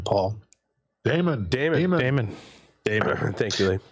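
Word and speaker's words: daemon: as I thought it's uh how do you pronounce d AE m o n Paul Damon Dam Damon Dam thank you and uh wheel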